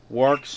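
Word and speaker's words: Worx: to show you is works incorporated i had to check the internet for the pronunciation of this it's it's like work but it's with an x w o r x works incorporated and um this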